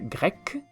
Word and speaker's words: grec: igual griego y griega griego se pronuncia grek y griega grek Exactamente igual grek griego grek griega grek y el país Grecia